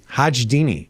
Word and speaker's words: Hajdini: Lorna Hajdini. How do you? What's the pronunciation? Hajdini.